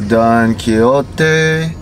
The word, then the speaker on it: Don Quijote: pulling into Don Quixote I think that's how you pronounce it even though it's spelled like Cujo t because of course you